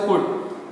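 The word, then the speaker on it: could: इसी तरह इसको कुड, मे का माइट।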